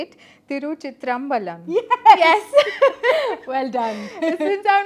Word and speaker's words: Thiruchitrambalam: win so it's it's difficult for me to pronounce the name of a film but I'm going to say it tyu chitr Balan yes well done since I'm not South Indian